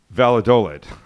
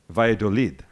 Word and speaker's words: Valladolid: It is not Valladolid. It is not. I believe it is Valladolid.